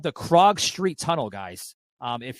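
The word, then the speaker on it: Krog: Um, if you go to uh Google and you uh type these words in, it's Krag. It's spelled K R O G. Crag and then street tunnel.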